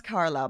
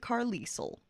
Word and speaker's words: Carlisle: And now I know how to pronounce Carlisle because last time I accidentally pronounced it Carlisle, because I am that cool.